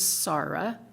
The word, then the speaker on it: Sara: And then the next speaker was Dr., and I think she pronounced it's S-A-R-A, so I think it was Sarah Safari.